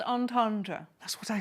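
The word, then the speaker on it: entendre: you read out double on Tundras oh grow up Ben actually um what is a double in tendra can someone fill me in it's pronounced on Tandra that's what I said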